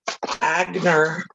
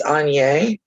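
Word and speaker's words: Aigner: And my mom, you guys are going to laugh at my pronunciation. I do know how to say this. My mom preferred Agner bags and shoes. And I know it's Anye because someone told me that after I was grown.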